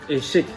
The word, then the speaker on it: eshik: eshik, not eshak. That sounds like eşik Yeah, actually.